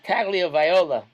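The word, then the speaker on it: Tagovailoa: So Atua Tagliaviola, that's how to pronounce it.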